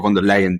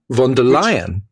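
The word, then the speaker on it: Ursula von der Leyen: And what the Europeans did, or what Brussels, really what von der Leyen did. Von der Leyen? Von der Leyen.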